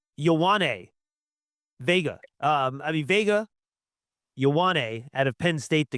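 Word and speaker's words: Vega Ioane: Um, I mean, Vega Yane out of Penn State the guard.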